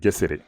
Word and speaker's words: Gesere: Ça va toujours se prononcer G, contrairement au français où ça va se prononcer J ou J.